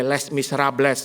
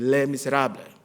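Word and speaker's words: Les Misérables: Nggak boleh bacanya, nggak boleh Les Miserables. Anda bisa disuntukin oleh orang Perancis kalau gitu. Les Miserables. S-nya silent, tidak dibaca.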